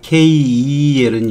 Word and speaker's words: keel: 있고 평평한이란 뜻도 있죠 kel은 있죠 장음이에요 장음 하는 거고 우리가 흔히 하는 kill이 있죠 요거는 단음이에요 이건 요건장음이에요 발음이 거의